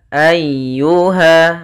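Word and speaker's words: أيها: Ayyuha. Ah di sini ada huruf ya yang berharakat tasydid. Ya termasuk huruf lembut dan dia harus ditekan karena dia tasydid.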